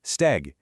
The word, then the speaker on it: steg: Okay, in old Tibetan it was steg. You can hear that hard G at the end, right?